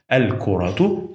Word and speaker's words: الكرة: I pronounce it like H because I paused here. الكرة صغيرة.